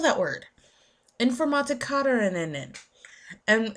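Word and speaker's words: Informatikerinnen: Like informatikarinen. It's I N F O R M A T I K E R I N N E N. That is how you spell that word. Informatikarinen.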